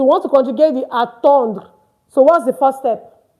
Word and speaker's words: attendre: We want to conjugate attendre. Of course, you don't pronounce the RE. I said that earlier. So we want to conjugate the attendre.